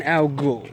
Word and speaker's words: Al-Ghul: Yeah, Al-Ghul. Al-Ghul. I heard that. Basically, think of the Batman villain, but with a different spelling. I didn't really think about that. Yeah, it's pronounced like that.